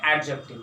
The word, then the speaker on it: adjective: This is नॉट एडजेक्टिव, एडजेक्टिव। डी दोस्तों यहाँ पर साइलेंट हो जाएगा, आप इसका प्रोनाउंसिएशन करेंगे एडजेक्टिव। ठीक है, तो दोस्तों एडजेक्टिव